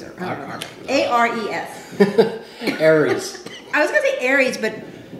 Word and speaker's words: Ares: He's called Ares, or Ares, or A-R-E-S.